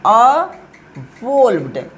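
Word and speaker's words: evolved: इस तरह से उच्चारण करना है, अवोल्व्ड, अवोल्व्ड।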